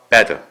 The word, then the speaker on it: bade: 자, 그런데 옛날 영어에서는 과거가 bad. 자, 여기 스펠은 마치 bade처럼 읽는 것 같이 보이지만은 사실은 bad입니다. 예, 발음은 bad고 또 과거 완료형이 bid는로